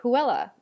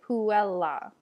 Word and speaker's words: puella: is the double consonant when you have a double consonant you should pronounce both in english we might